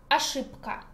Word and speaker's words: ошибка: Mistake, ошибка. And there is the rule, I think you guess, it's about voiceless ka that makes voiced consonant also voiceless. We write bk, but pronounce pka, ошибка.